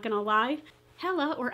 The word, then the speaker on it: Hela: angie not gonna lie hella or as it is pronounced sort of with nordic mythology heal is the goddess of